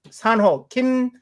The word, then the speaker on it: Sanho Kim: Jose yeah on his his name is pronounced San ho Kim we go by last